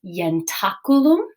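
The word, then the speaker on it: ientaculum: a bit tricky right we've got that consonantal eye here that's pronounced ya so this is yantakulum and this is going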